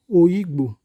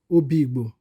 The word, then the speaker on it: Oyigbo: government his pets and pronounce o igbo and not obibo the government further stated